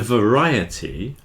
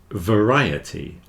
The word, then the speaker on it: variety: all of these words the most commonly mispronounced words are society and variety you'll see the I there is stressed but when you've got